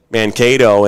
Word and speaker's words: Mankato: were talking about pronouncing Mankato, and I was like, oh, it's like Cato Kalin, right? He's like, yeah, that's a good way of putting it.